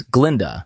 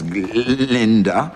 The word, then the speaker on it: Galinda: Dillon's class, the goat professor tries to say Galinda's name, but can only pronounce it as Glinda. Miss Linda. Actually, it's G. Linda.